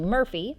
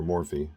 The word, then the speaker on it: Morphy: Michael Morphy, Paul's great-grandfather and the first to abandon the Murphy surname for Morphy to suit Castilian pronunciation, had correspondence with Thomas